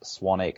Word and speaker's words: Swanwick: actually spelled Swanwick com even though it's pronounced Swannack so it's ji mes